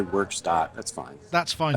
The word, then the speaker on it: Werkstatt: Well, I speak a little bit of German, so I say Werkstatt. Yeah. Werkstatt. I'm liking it. Yeah, but we say craft work here in America, so you could say Werkstatt.